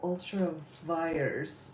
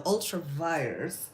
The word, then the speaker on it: ultra vires: I don't know, ultravirus. I'm going to say it wrong every time. It's like virus, so ultravirus is the doctrine that is being used.